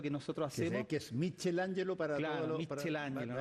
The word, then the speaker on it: Michelangelo: nosotros hacemos que es Michel Angelo para tod pronunciación es la Italiana michelangelo mangelo claro y siempre